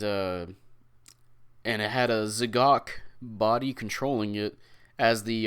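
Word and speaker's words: Z'Gok: i was said zagok i don't know how to pronounce it because it's z-e-g-o-k so technically it's z-gok but also call that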